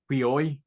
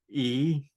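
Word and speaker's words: υἱοί: It's pronounced, you know, Huioi, not E.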